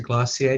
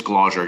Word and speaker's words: Glauser: Mr. Glossier, did I pronounce that correctly? It's Glauser, Your Honor.